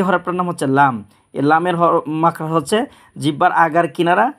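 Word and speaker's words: لام: যেমন এটার নাম উচ্চারণ করে আমি শোনাচ্ছি এভাবে উচ্চারণ করবেন কাফ কাফ তিন আলিফ করে টানবেন এই হরফটার নাম হচ্ছে লাম এই লামের মাখরা হচ্ছে জিহ্বার আগার কিনারা সামনের দাঁতের মাড়ির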